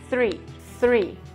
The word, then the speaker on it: three: e ele usa então o número 3 falando tree, mas na verdade tem o mesmo som de third e seria three. Então é uma coisa pra